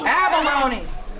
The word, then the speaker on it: abalone: an a and it rhymes with the loney bologna close abalone we lived all over